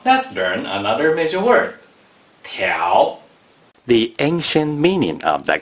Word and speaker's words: 條: 条 is the second tone.